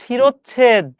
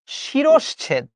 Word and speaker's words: শিরশ্ছেদ: আমরা উচ্চারণ করি শিরোচ্ছেদ। উচ্চারণ করার সময় আমি করছি শিরোচ্ছেদ, ছয় 100% ভুল। হবে হচ্ছে শিরশ্ছেদ, অর্থাৎ তালব্য স, তারপর হবে স। আবার বলছি ভাই, আমার সাথে উচ্চারণ করো, শিরশ্ছেদ। উচ্চারণ করো, উচ্চারণ করো, শিরশ্ছেদ, নট শিরোচ্ছেদ। আরে বলো না, সমস্যা কি? আজকের পরে এই বানানটা যেন আর ভুল না হয় ভাই। শিরোচ্ছেদ না, শিরশ্ছেদ। এ কিভাবে বানানগুলো হয়েছে এটা